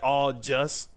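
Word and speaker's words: au jus: It's spelled like all just, but it's all jus, my nigga.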